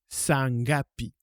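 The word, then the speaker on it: saa ngapi: so la question c'estiapi N G a P iapi et he on dit ça ça s'écrit S a a ça pour dire quelle heure on dit sangapi ou à quelle heure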